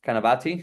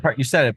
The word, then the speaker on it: Canavati: If Walmart goes and buys, let's say, Canavati, how do you say your last name? Canavati? Yeah, you said it Canavati. perfectly.